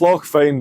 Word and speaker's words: Fyne: On the shores of Loch Fyne. It's very fine, isn't it? Which is on the Cowl Peninsula. Yeah. It's Loch Fyne, but it's spelled F-Y-N-E.